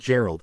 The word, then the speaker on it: Gerald: The United States of America, under isolationist President Gerald Hard G.